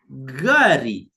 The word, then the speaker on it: gari: An example, the Swahili name for a vehicle is gari, gari, gari, gari. And key to note, it's always a hard G, right?